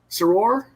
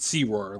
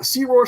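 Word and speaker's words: Sirore: his father the legendary sarore is that correct uh we pronounce it sea roar like spiro okay okay uh sea roar sword hand looms large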